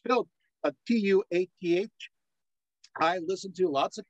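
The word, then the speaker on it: Tuath: the mug by the way it's built a t-u-a-t-h I listen to lots of Celtics the recordings the pH is silent yeah so it's Tua and you stop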